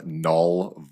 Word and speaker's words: Knull: was under the name Null Void. Null spelled with a K, so k n u l l.